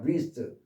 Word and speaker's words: wrist: 그냥 wrist, wrong, wrench 이렇게 W 발음 하지 마세요.